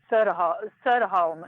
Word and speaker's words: Soderholm: Welcome, and it's pronounced Maija Soderholm, right? Is that I say your name correctly? Soderholm.